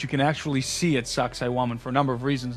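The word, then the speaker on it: Sacsayhuamán: But a place like Sacsayhuaman, if I'm pronouncing Sacsayhuaman.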